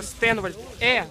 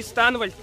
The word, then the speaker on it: Стэнвальд: Ник читается Стэнвальд, закрытый слог, Стэнвальд, Стэнвальд, не Станвальд, не Станвал, Стэнвальд, все, теперь...